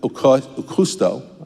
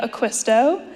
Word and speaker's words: Aquisto: Please join me in welcoming Okusto, sorry, I butchered the last name, to the stage. Good morning everyone. My name is Aquisto. I am a K. You were close.